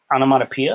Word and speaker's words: onomatopoeia: peace in our symbolizes wisdom okay all right onomatopoeia is how you pronounce this one okay maybe these these are